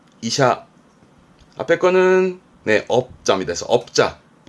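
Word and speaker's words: 医者: 발음은 이샤, 이샤.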